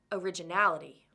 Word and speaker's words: originality: ending ity we have originality originality has six syllables originality and the fourth syllable is stressed the fourth syllable al is right before the word ending ity let's look at one